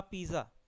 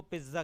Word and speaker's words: pizza: Okay, we ईट अ पिज़्ज़ा, वी ईट अ पिज़्ज़ा, अ पिज़्ज़ा is eaten by us. Mostly India में इसको पिज्ज़ा कहते हैं, बट the right pronunciation of the word is पिज़्ज़ा एंड नॉट पिज्ज़ा।